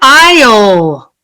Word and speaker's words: aisle: So, if you look at number 9, aisle, aisle, aisle. It's crazy, but all 3 are pronounced the same.